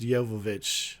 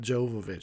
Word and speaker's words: Jovovich: like an awesome know-it-all it is pronounced Jovovich okay everyone not Jovovich she gets kind of